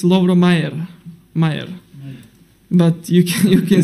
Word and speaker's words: Majer: people, when I came here, people, even today, they say my name like Lovro Mažar. It sounds good for me, but it's not like that. It's Lovro Mayer.